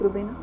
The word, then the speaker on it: रुबैना: मैं एक व्यक्ति हूँ, रुबेना, हाँ, मैं रुबैना हूँ, हाँ, तो मेरे नाम को कैसे प्रोनाउंस करते हो? रुबैना।